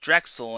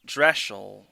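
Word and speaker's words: Drechsel: Yes, her name is actually pronounced Drexel and not Dreschel.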